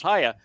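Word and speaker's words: היה: And it's pronounced Haya. No one disagrees that it's pronounced Haya.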